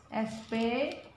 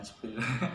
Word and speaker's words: spell: Nah, tulis di situ spell, S-P-E-L-L, maknanya adalah mengeja. Ya. Mengeja. Bacanya tetap spell, ya. Dibaca spell itu. Bukan spill. Bukan, ya. Spell. Ya, no, di dalam kurung bacanya spell gitu, bukan spill.